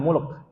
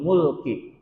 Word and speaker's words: Mulk: malaikat Malik artinya Raja Jadi kalau bacanya kalahsalah maka maknanya salah Jadi ini namanya suratul Muluk bukan suratul milk bukan suratul malak bukan suratul Malik tapi suratul Mulki artinya kekuasaanultan Sultan Raja